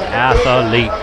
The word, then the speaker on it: athlete: Yeah, he's an athlete. He's such a good athlete, you put an extra A in that. Athlete. You get an extra syllable.